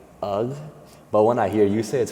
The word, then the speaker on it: UGH: It's People say ugh. Yeah, it's not if you're saying ugh, you don't know me. It's right. Like it's the U is just the G is silent.